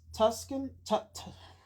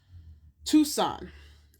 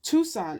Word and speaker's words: Tucson: Tucs- Tuscan Tucson. I know how to say it. I just always want to say Tuscan. Tucson, Arizona.